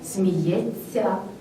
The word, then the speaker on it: сміється: і на їх правопис бо пишемо сміється а говоримо правильно сміється грається вчиться далі який